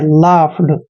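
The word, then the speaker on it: laughed: डी दोस्तों ध्यान रखिए जहां पर ए यू जी एच आता है वहां पर यू जी एच का उच्चारण फ करते हैं एल ए को हमने ल और आ की मात्रा पढ़ना है यू जी एच का उ उच्चारण फ करते हैं और ईडी को ड पढ़ना है लाफ दोस्तों लाफ मींस होता है हंसना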